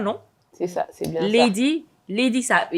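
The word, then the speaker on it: Leydi: C'est ça, c'est bien Lady, ça s'écrit L-E-Y-D-I.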